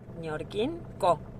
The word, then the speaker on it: Ñorquincó: Ñorquincó. That's right. With an accent on the O.